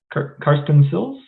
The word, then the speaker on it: Karsten Silz: All right, first up, we have Karsten Silz. Did I pronounce that correctly?